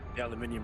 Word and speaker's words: aluminium: the list of names aluminium because I get to say it properly well it's misspelled in